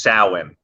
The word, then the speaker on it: Samhain: of uh it's written samhain but it's actually pronounced samhain which is uh the celtic holiday with correlates